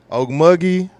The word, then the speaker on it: Okmulgee: Okmulgee, Oklahoma.